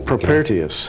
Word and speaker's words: Propertius: He quoted How do you pronounce that name? Propertius.